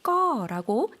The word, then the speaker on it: ก็: ก็ 요 단어는 사실 그냥 자음만 이렇게 나와 있는 단어이거든요. 그래서 발음을 외워주셔야 돼요. 꺼라고 이성으로 길게 발음을 해주시면 되겠습니다.